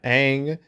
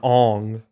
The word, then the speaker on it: Aang: I mean, you have Aang, it's fucking Ong.